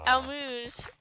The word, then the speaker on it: Almuj: But, oh, yeah, this is Almuj, I think. I looked up how to pronounce all the city names, and that's what they said.